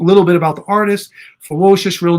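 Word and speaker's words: FEWOCiOUS: transgender artist named ferocious now i'm not trying to be funny and say ferocious but say it with a w that's how it's spelled f e w o c i o u s ferocious in the form of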